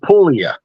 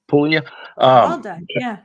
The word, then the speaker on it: Puglia: I'm just helping you you don't pronounce the G in Italian I don't we never we don't even know why it's there okay yeah it's just guacamole yeah so Pula yeah Pula Castell delont it was